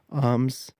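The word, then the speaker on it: arms: استعمال کریں گے امنگ۔ آرمز، اس میں جو آر ہے وہ سائلنٹ ہے۔ اسلحہ، آرمز، اسلحہ۔ اماؤنٹ،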